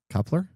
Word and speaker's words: Kuiper: How do you pronounce it? Is it Kuiper? Kuiper.